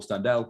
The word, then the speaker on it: Standell: I say Standell, but whatever.